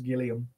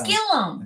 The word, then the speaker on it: Gillum: she always does that she says gillium Gill I correct her every time it's Gillum it's Gillum I know you get